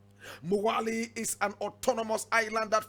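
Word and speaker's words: Mwali: moheli in the comoros now moheli is spelled m-o-h-e-l-i correct pronunciation spelled m-w-a-l-i so English people will say more early but the indigenous people of the comoros would say Moana is an autonomous Island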